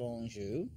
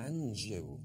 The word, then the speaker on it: Anjou: He came up with, must admit, Margaret of Anjou and her son.